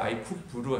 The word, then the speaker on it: 아이쿱: 저희 회사 광고는 아니지만 아이쿱을 자꾸 찾으시면 생협이 나와서 생협을 헷갈리시는 분이 있는데 ICOP고요. 저는 IPO 이렇게 정확히 영어 발음 아이쿱으로 해야 됩니다. 네, 이거는 제가 제일 친한 절친이 이따 발표할 주지영 교수랑 만든 회사고요.